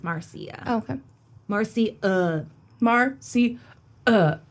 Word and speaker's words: Marcia: cuz everyone was like it looks like Mara but it's Marcia okay Marc Marcy uh